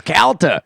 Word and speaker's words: Calta: Of course, Calta. But people say people mispronounce Calta all the time.